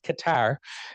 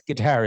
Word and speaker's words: Qatar: Um, there's only one thing more American than diabetes and pretending how you, you know, how to pronounce Qatar. Uh, they think that's guitar in America.